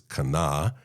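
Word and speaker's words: קָנָה: So the Hebrew verb here is kana, and it sounds like the word Cain. It's a rhyme. It's a pun. It's kind of this moment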